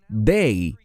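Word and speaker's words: δεῖ: Se pronuncia dei en griego y se refiere a algo que tiene que ocurrir.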